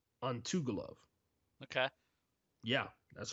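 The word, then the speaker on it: Antigulov: His name is Gatumurad Antugulov.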